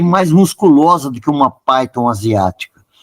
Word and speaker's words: pythons: já na Ásia e na África existem as pythons e se escreve p y t h o n s pythons nós podemos dizer em português pitons mas o correto a pronúncia Python e o